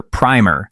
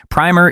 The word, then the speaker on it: primer: However, when using the definition of a small book that teaches children how to read it, it's pronounced with a soft I. "Today I learned that primer is not pronounced with a long I."